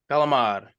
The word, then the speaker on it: calamari: Squid that you eat, calamari. Mike, how about you? Calamar. Calamar. Okay. Yeah, I would say the same.